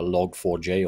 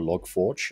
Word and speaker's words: Log4j: an understanding of a log 4j or log forge depending on your pronunciation and so let's start